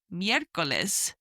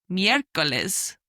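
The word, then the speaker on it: miércoles: And third day of the week is Mirales. Miracles, Wednesday, which is spelled M I E. And the E has a little accent on the top. R C O L E S.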